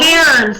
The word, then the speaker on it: Cairns: Cairns, and stacked stones that would be a Saurian burial marker or a shrine.